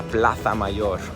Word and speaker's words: Plaza Mayor: Let me say it like someone from Spain. La Plaza Mayor.